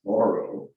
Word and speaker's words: Thoreau: um uh your family put emphasis on the first Sy as in thoro you not thoro thoro